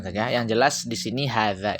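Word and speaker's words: هذا: Yang jelas di sini hadza ini bacanya panjang ya. Ada alif maksurah di atasnya, alif tanda alif, harkat alif di atas ha itu sebenarnya. Yang jelas bacanya panjang.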